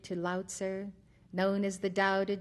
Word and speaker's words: Tao: after the two main concepts of the book Dao meaning way it is spelled t a o dur meaning virtue or